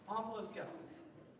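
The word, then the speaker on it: omphaloskepsis: Can that also be pronounced omphiloskepsis? It can. It would be wrong. Omphiloskepsis.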